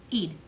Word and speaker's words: Eid: serious putting you on notices how do you pronounce it it's I Eid Eid e doll okay forgive me for slaughtering